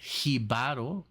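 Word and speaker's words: Jíbaro: 1976 it says here the word jib uh uh pronounced hiar means a small farmer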